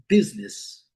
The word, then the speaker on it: business: É a palavra business. É lógico que em amarelo a sílaba forte, a letra U com som de I.